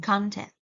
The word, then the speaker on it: content: For example, instead of putting the stress on the first syllable of the noun content, people usually, especially Vietnamese people, Vietnamese speaker, often put the stress on the second one, which is a verb, not a noun, content.